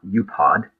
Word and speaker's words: UPOD: So basically, it's keeping your promises, but even better, it's something that I pronounce UPOD, U-P-O-D, which is an acronym for under-promise and